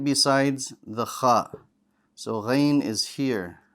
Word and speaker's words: غ: Ghain. Ghain. Ghain. Very good. Let's talk about Ghain. Ghain is another bold letter. Strong. The back of your tongue is going to rise. And it has no air.